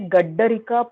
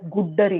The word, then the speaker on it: Gaddarika: Gaddarika Pravaha Nyaya, but you pronounced it as Guddarika. Oh, sorry, my bad. Gaddarika only. No, I because of this muddle here, I may have read it as Guddari. No, Gaddarika. Kshamyatam. There is no Guddarika business.